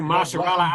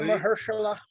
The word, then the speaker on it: Mahershala: Damn you, Mahershala Ali. Good old Mahershala.